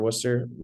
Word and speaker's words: Worcester: That's how that I get the Yeah, Worcester. pronunciation right.